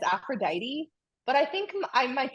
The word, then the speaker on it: Aphrodite: no okay we have Aphrodite afrod oh you just say it faster kind of Aphrodite Aphrodite yes Aphrodite and we call it aphrod oh a little different the pronunciation is a little different it's so interesting because